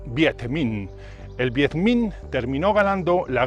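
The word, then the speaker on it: Việt Minh: que resumidamente reducido y en vietnamita se pronuncia 7 min el vietminh terminó ganando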